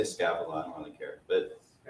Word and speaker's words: Scaevola: I can say Scaevola. I don't really care. But if you were going to use your Roman pronunciation from Latin, it'd be Scaevola.